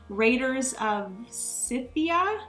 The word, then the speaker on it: Raiders of Scythia: I believe there is Raiders of Scythia, I believe is how you pronounce it.